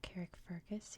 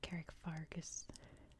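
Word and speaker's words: Carrickfergus: going to talk about Carrick Fergus here which I believe in Ireland it's more like Carrick fargus than Carrick Fergus like it is in American English I am pronouncing everything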